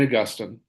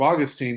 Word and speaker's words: Augustine: The guy who started it was Saint Augustine or Augustine, if Augustine. how you pronounce it. Augustine's how you're supposed to pronounce it, but Depending on whether you're talking about the saint or the location in Florida, right?